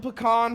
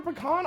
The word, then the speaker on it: pecan: I don't like the way you say pecan. That's how it's said. Here's the thing. If you say pecan or pecan or anything else, a southerner gets mad at you. It's pecan.